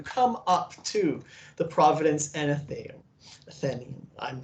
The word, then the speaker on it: Athenaeum: Athenaeum is how you pronounce it.